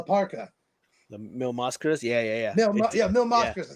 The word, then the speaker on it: Mil Máscaras: It looked like a mix between like Mil Máscaras and like La Parca. The Mil Máscaras? Yeah. Mil Máscaras. I said his name wrong.